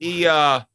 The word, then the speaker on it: Iamaleava: But Iamaleava.